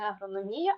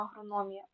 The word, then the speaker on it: агрономія: склад далі розглянемо похідні слова у яких зберігається наголос тобто агрономій тому що Агроном Так в нас було слово Агроном тому агрономія не агрономія а агрономія кулінарія тому що Кулінар металургія тому що Металург